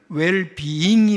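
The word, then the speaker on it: well-being: 웰빙 시대 이렇게 말합니다 그런데 원래는 웰 비잉이 맞습니다 원 발음으로 얘기하면 어쨌든 현대인의 관심은 얼마나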